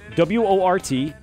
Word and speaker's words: Wort: Go on to YouTube, type in up at the top search menu, type in W-O-R-T, pronounce Wort, spelled Wort, and of course, Mike, Pete, and you will find us, and you'll find our live broadcasting now.